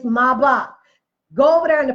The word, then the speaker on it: Maybach: Maybach had just come out it is not made back black folks stop saying that that's it and that's mispronunciation it's my block go over there and the people to tell